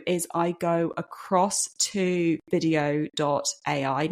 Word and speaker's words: Vidyo.ai: What I then do is I go across to VideoAI. Now, video is spelled a little bit weirdly here. It's VIDYO.ai.